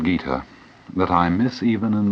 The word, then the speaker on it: Gita: In 1925, Mahatma Gandhi wrote the following words: "I find a solace in the Bhagavad Gita that I miss even in the Sermon on the Mount.